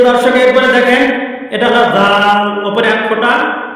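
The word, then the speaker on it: ذ: বলে দিয়েছিলাম প্রিয় দর্শক একবারে দেখেন এটা হল জাল উপরে এক ফোটা বা এক নুক্তাওয়ালা জাল পাতলা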